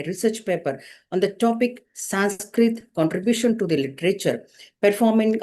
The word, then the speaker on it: Sanskrit: A Sanskrit word is originally pronounced as Samskrita. So, but due to language and pronunciation difference, people have started to pronounce it as Sanskrit.